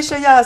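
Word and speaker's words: Sheya: Alors, Cheya, ça s'écrit S-H-E-Y-A.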